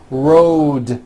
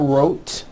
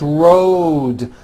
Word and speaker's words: road: with a voiced d Road also has a voiced d ending Road it's not wrot unvoiced it's Road the whole word is voiced let's go over these